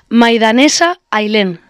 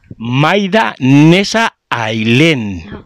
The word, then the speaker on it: Maidaneza Ailen: Maidanesa Ailén. Maidanesa Ailén. Así se pronuncia.